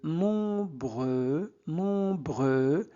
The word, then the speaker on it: nombreux: Dès le matin, donc E accent grave se prononce E, dès le matin, IN se prononce un, matin, de nombreux, OM se prononce on, non, nombreux, voisins se dirigent.